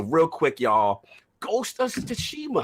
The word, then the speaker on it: Tsushima: It's just make believe the T's not there. Just say sushi.